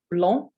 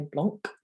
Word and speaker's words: blanc: in consonants where the consonant's silent at the end of the word so for example the word for white again i'm going to say all these i'll leave a space and then you can pronounce them after me so long which means white i think english people tend to try and say blanc like mont blanc the mountain but it's nice which